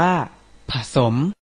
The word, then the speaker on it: ผสม: ว่า คำ ที่ ประวิสรรชนีย์ ส่วน คำ ที่ ไม่ มี รูป สระ อะ แต่ ออก เสียง อะ เรา ต้อง ออก เสียง อะ กึ่ง เสียง เช่น คำ ว่า ผสม อ่าน ว่า ผสม เรา เรียก คำ แบบ